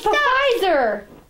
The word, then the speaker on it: Pfizer: Why is Pfizer spelled with a P? It's French. So it's Pfizer. Pfizer. Yeah, it's not French. Pfizer. I don't know why the hell they have a silent P.